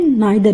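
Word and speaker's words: neither: Distributary में हो जाते हैं ईच ईदर नीदर आप इसको ईदर भी बोल सकते हैं और आइदर भी बोल सकते हैं। नीदर भी बोल सकते हैं नाइदर भी बोल सकते हैं। दोनों प्रोनाउंसिएशन करेक्ट है।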